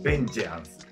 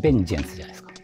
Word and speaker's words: vengeance: AVEC UNE VENGANCE ? C'est VENGEANCE. VENGEANCE...